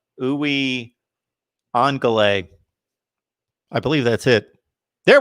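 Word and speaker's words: Uiagalelei: And again, I've got to phonetically go with it's Uwe Angale. I believe that's it. There we go. We got John Sirian helping me out there. It's DJ Uwe Angale. Angalele. Uwe Angalele.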